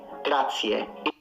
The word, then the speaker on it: grazie: There's no a, it's e, grazie. It's a e, it's not a like in sit.